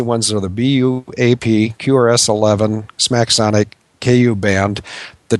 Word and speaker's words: Smacsonic: Smacksonic is spelled SMACSONIC, and it is a brand name, not a generic name.